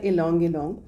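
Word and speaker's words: ylang-ylang: की इसका नाम है लोंग लोंग वाय से स्टार्ट होती है स्पेलिंग में प्रोनाउंस किया जाता है लोंग लोंग एक्चुअली इस वर्ड का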